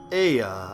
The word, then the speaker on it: Aya: When the vibration of vocal folds was still required to convey our thoughts and intention, Aya, I believe, was the pronunciation used when referring to our people.